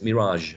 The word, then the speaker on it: mirage: And the only one different is mirage, which is a French origin word as far as I know. Mirage has a different word stress and also different pronunciation.